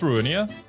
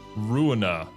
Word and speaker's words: Ruina: I keep calling it Ruinia for some reason. I don't know why. It's a library game. How about that? There is no I after the end.